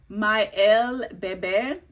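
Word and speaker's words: Miel Bébé: So it's pronounced Miel Bebe. It means honey baby.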